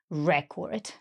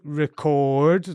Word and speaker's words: record: So we need to record the record. Excellent. Yeah, exactly. And you can really hear those sounds coming through there. So record, long, and record, short. Long on the re and short on the second syllable.